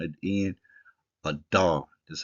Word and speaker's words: Adar: dollet and a rush sound at the end a do that's how we pronounce it now these months have been moving